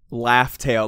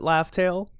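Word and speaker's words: Laugh Tale: good but I guess the dub said laughs tail like they pronounced it laughs tail which is good I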